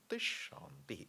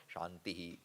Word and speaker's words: shanti: prayer shanti shanty shanti the way we pronounce It shant shant shanti not shantihi shantihi shantihi can be